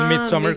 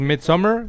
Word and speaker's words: Midsommar: Y no es Midsommar como Summer de verano, es Midsommar.